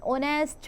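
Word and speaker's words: honest: For example an एग, एन ऑस्टिच, एन ऑनेस्ट man extra.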